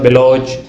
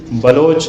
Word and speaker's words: بلوچ: جو قطعاً غلط ہے۔ اس لفظ کا صحیح تلفظ بلوچ ہے، یعنی اس کے حرف اول بے پر زبر یا فتح ہے، تیسرا حرف واو مجہول ہے، اور چوتھا حرف 6 ساکن ہے۔ لیکن دوسرا حرف لام